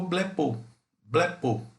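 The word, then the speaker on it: βλέπω: Aí ficou blepo, tá? Esse seria mais ou menos próximo da pronúncia dessa palavra aqui, que quer dizer vejo, né?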